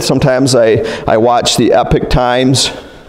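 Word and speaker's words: Epoch Times: little bit updated sometimes I I watch The Epic Times how do you say it oh yeah good you pronounced it right okay and like I like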